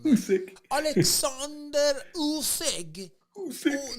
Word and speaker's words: Usyk: Alexander Usyk. Usyk. Look at how I say Usyk. Alexander Usyk. You gotta say it from your gut.